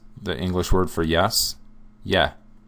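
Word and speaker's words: Е: little series, which is, it looks like the English E, right? It's not. This is one of their vowels, and it's a Y sound. Most of their vowels, have a Y sound to it. So this letter is yeah. It sounds just like if you said, yes, the English word for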